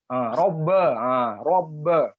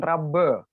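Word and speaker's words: رب: Atau birra, robbe, itu tebal, jangan rabbe. Itu kurang betul, begitu insya Allah.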